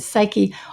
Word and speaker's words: psyche: here because i think you're pronouncing the word suke which is a greek and right way to do it and i said psyche only because i think people recognize that word but it's it's sort